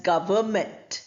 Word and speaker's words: government: we say govern no but when it forms the noun from the verb we pronounce it as government gment g and ver were and then meant the n sound is not there at All as I